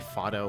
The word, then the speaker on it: Fado: It's probably supposed to be Fado with how Japanese is pronounced, but... Let's go with Fada.